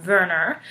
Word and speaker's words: Werner: They are Werner, and it's interesting because he's German, so it's spelled with a W, but we know it's also pronounced a V, so it's Werner, and then Marie-Laure.